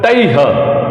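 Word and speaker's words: तैः: तैह, विसर्ग का उच्चारण भी अच्छे से करना है। तैह, तैह, तैह, ध्यान रखें आप।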